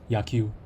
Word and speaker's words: 野球: Yaku. Okay, yeah, so that's correct. 野球 I can hear the correct pronunciation.